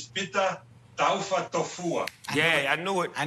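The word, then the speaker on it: Taufatofua: The proper pronunciation is PETA Taafa Tofua.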